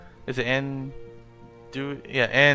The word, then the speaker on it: Anduik: But they would Visual Sunseeker would kill Anduik, or how do you say his name again? Anduik. Is it Anduik? Yeah, Anduik.